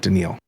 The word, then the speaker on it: Danielle Hunter: Sorry, not Daniel Hunter. Danielle. Okay.